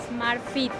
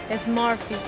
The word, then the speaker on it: Smart Fit: Smart Fit. Smart Fit. Smart Fit. La S es solo el sonido S.